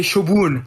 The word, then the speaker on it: Shobon: name is based on, they say Shobun, like with double O.